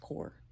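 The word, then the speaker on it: Corps: he would be called core of discovery it's pronounced core whatever yeah Lewis agreed to this Lewis asked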